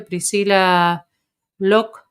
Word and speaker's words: Priscila Locke: Bueno, voy a hacer una pequeña presentación, como les dije, Priscila Locke, ¿lo dije bien? Sí, Priscila, tu muy bien. apellido, ¿así se Ujú.